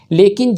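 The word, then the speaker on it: ळ: ला को हम लोग बोलते समय अपनी जीभ को सीधी करते हैं, लेकिन जब इस विशिष्ट वर्ण ला को बोलते हैं तो अपनी जीभ को ऊपर की साइड थोड़ा सा कर्व या घुमाते हैं, फिर इसका उच्चारण करते हैं, जैसे ला।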